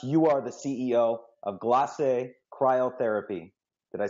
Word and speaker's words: Glace: for joining us you are the CEO of glass a cryotherapy did I say it right yeah you